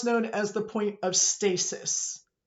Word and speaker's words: stasis: This space right here is what's known as the point of stasis. Some people pronounce it stasis. Either way is acceptable.